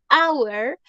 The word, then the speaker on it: hour: en cambio acá no Our aunque se escribe con h Our no se dice How se dice Our y el sonido suena como el sonido de una vocal vocal perdón my God